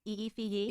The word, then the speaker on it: IFEYE: Is it Ify? Ify? Eefy? It's Ify. tragic.